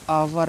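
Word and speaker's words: hour: है आवर लिखा है बहुत से बच्चे इसको हावर पढ़ते हैं ठीक है आवर लिखा है आवर ठीक इसको हमेशा याद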